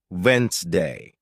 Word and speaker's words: Wednesday: For example, you might see the word Wednesday and think it's pronounced exactly as it's spelled, but listening teaches you it's actually pronounced Wensday.